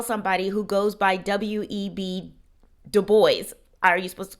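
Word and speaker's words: Du Bois: But yes, um his full name was William Edward Burgart Dubo and he was very clear that he wanted people to pronounce his name Dubo, not Dubois, which is interesting because um his father actually immigrated from Haiti.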